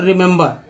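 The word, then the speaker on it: remember: आर उच्चारण है दोस्तों रिमेंबर। अब पहला ई का दोस्तों ई, दूसरा ई को ए और तीसरा ई को आ का उच्चारण किया गया।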